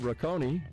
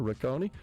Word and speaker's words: Rocconi: Rod Rakonei, director Cancer Center and Research Institute. Dr. Rakonei, did I pronounce that correct?